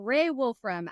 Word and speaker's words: Raae Wolfram: so let's get into it and then you pronounce my name beautifully as well Ray Wolfram a senior product manager sit right within engineering